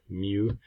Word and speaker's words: mu: For a population, the parameters we use are mu, which is the average, pronounced kind of like this, mu, and sigma.